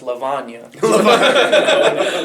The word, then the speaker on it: Levona: Um we're actually our band's actually pronounced Lavana.